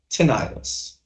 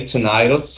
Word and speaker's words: tinnitus: You're gonna look for tinnitus. Got it? Simple. You can say tinnitus or tinnitus. Remember, all depends on, who you're talking to. But both pronunciations are correct.